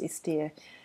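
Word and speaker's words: Esther: es th al it's spelt like yester but pronounced yes dear Perales PE l and she does an excellent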